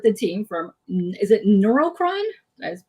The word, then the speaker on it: Neurocron: So, if you guys don't know, I'm here with the team from, is it Neurocron? I just pronounced it.